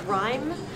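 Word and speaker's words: Rime: Last name is Rhyme. But it's spelled R-I-M-E.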